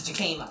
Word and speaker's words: jicama: It's spelled like jicama. Just like quinoa is spelled like quinoa, this is jicama.